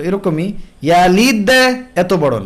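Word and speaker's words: يلد: তো এরকমই ইয়ালিদ এত বড় না, অনেকেই লাম ইয়ালিদ ওয়া লাম ইউলাদ এত বড় করে কলকলা করেন, এটা করা যাবে না। কলকলার আওয়াজ মূল আওয়াজের তুলনায় দুর্বল। লাম ইয়ালিদ ওয়া লাম ইউলাদ, ইয়ালিদ লিদ ওয়া লাম ইউলাদ, লাদ ছোট।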